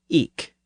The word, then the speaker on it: ik: and Northerners said e well in parts of Eastern England especially around norfol people pronounced that word with a hard k sound at the end so they said eek usually spelled ik k and choser has